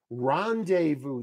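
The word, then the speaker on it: rendezvous: word bum bum bum three- syllable word stress on the first syllable Rondevu that's a really good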